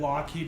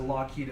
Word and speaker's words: Lockheed: really they changed it Lockheed himself changed it so people would pronounce it correct so virus descent the worst I've ever been called as mr.